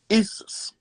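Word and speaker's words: Iesous: But when you trace the language back to the Greek, it's spelled I-E-S-O-U-S, and it's pronounced Isis or Isis.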